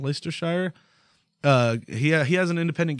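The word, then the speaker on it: Leicestershire: gonna pronounce this right like a shire like liquor Shire and Leicester shire yeah he has an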